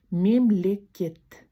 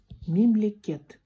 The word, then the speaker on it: мемлекет: Сегодня мы будем запоминать такое слово, как мемлекет. Мемлекет – это государство на казахском языке. Государство. Мемлекет. Думаю, произношение достаточно несложное.